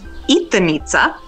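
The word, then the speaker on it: jitrnice: is a particular type of Czech sausage it's pronounced eat the meats ax but spelled J ITR n I see because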